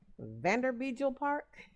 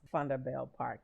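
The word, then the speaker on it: Vanderbijlpark: a building located in a small town called funda bell park now if i were to read that word here in america i would pronounce it vanderbilt park but it's actually pronounced thunderbale park and it's the home of the val university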